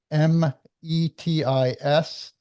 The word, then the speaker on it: Métis: It's Metis, and it's the life and times of Charles de Langlade.